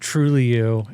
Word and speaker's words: Trulioo: Yes, that's pronounced Trulioo.